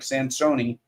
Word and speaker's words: Sansone: This is Sansone, Rhymes with Minestrone.